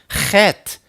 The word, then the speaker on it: Chet: That's how you pronounce chet. Chet.